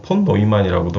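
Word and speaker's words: von Neumann: 이제 컴퓨터 아키텍처 같은 경우에는 반 뉴만, 보통 폰 노이만이라고도 많이 발음을 합니다.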